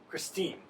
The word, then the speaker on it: Christine: Christine. Alex. Christ, as in Christ, as in Jesus Christ, and teen, as in teen.